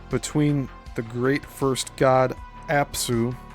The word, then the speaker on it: Apsu: In the Sumerian and Babylonian creation accounts, the firmament is personified by the god Mummu, and that's spelled M-U-M-M-U, who is the rising mist between the great first god Apsu, spelled A-P-S-U, the sweet waters, at Tiamat, the